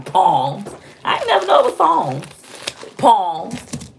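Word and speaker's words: psalms: burger flippers or something it's pronounced song not palms oh well i pronounced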